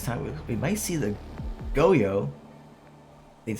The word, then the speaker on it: Goyo: We might see the Goyo. That's how you pronounce it.